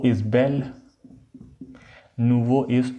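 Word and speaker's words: bel: VI, बेल and Nouvelle, इनकी दोनों की प्रोनाउंसिएशन सेम है।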